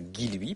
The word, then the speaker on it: Guilluy: à alors d'abord je suis désolé d'avoir mal prononcé votre nom pendant 2 ans donc maintenant je dirais guiloui promis euh deuxièmement je vais vous faire tout